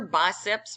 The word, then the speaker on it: biceps: arm the other thing did you notice that I say biceps and not bicep BP bicep you're saying two head no biceps two heads all right so